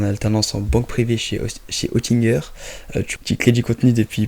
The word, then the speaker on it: Oettinger: Mais effectivement, ouais, ça s'écrit Oettinger, comme tu l'as prononcé. Et suite à une francisation d'un nom suisse initialement, ça se prononce Oettinger, mais ça s'écrit Oettinger, ouais, exactement.